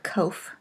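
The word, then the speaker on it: קוף: and that pretty end The Cove although written in transliteration with a Q pretty much has the same sound as the hard Koff is called Cove finally race which is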